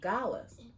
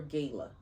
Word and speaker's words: gala: of those organizations have Galas do y'all say Gala or Gayla cuz I'm hearing it both ways just like some people